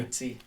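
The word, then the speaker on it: Ayiti: IT.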